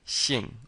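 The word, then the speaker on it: 姓: pronouncing the E so it's kind of like saying the word sheep smiling sheep but instead of a p on the end it's an NG on the end shing shing and you're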